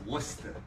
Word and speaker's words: Worcester: Is it Worcester? It's Worcester. Oh, I thought it was Worcester. Worcester. You gotta say it like Greg.